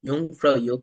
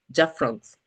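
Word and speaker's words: Jungfrau: The name Yong Fra is quite unique and not everyone pronounces it correctly. Some people say it as Jaff France, but the right way to say it, Yong Fra.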